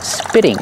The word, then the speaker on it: spitting: frog is spitting water remember the tea in spitting is a fast e because it's between vowels spitting spitting the frog is